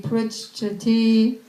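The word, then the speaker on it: पृच्छति: Dadati pratigrinyati Guhyam akyati pritchati. You see the C and the CH? There's a C and a CH? Yeah. That means it's pronounced twice.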